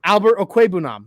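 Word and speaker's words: Albert Okwuegbunam: And I'm sorry, I mispronounced it a second ago. Albert Okwebunam. I said it right this time.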